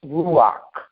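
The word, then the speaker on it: ruach: of as Prana and I think that's pronounced ruak not R Ru r u a c h paa is in atmospheric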